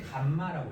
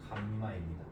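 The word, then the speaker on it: γ: 근데 읽을 땐 감마라고 읽어요. 감마. 영어로도 감마입니다.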